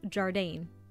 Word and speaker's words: Jardane: requires a little explanation firstly is pronounced jardine you know like the container for jam and that guy that you used to go to school with it's also our very